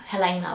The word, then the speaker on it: Helena: But I'd like it pronounced Helena, like Elena.